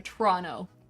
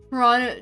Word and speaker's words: Toronto: That's one of my favorite Canadianisms to point out is that a lot of Canadians just like won't pronounce the second T in anything.